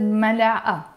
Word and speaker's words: ملعقة: But in this case, because the word has a T مربوطة, ملعقة, it has a T مربوطة, but I don't pronounce it. But when I add the N, I will have to pronounce it. I say ملعقتين.